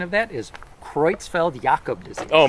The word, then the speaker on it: Creutzfeldt-Jakob: So, I looked at the pronunciation of that is Creutzfeldt-Jakob disease. Oh my gosh. Okay. looks like what you just said. Jacob. Yes. But it's Creutzfeldt-Jakob.